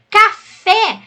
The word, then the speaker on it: café: e é monossílabo tônico café a sílaba tônica é a última é oxítona automóveis sílaba tônica penúltima